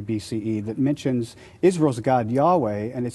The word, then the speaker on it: Yahweh: main God who has a name Yahweh pronounced something like your way but they also worshiped